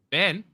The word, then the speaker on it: been: about it when I said, "How do you pronounce the word B-E-E-N?" Wait, B-E-E-N, bean.